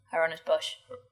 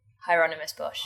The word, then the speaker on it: Hieronymus Bosch: Hieronymus Bosch. You said it quite quickly. Hieronymus Bosch.